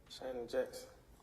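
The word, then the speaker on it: Shannon Jackson: for you to tell me your name and spell it please Shon Jackson s h a n n o n j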